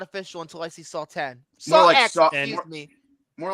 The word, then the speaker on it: Saw X: to play a game Saw 10 I still see it game oh sawx excuse me not pronounced sawx so much one of